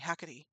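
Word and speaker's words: Hecate: I just crashed the night at hey Kates hacky hackes sorry I keep forgetting how to say it correctly and then I was like oh wait no hacky hacky I drank too much last night and needed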